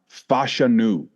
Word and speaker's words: Fashanu: So I got to start it off with this, the pronunciation. I was saying it wrong for 3 years now. Fashanu.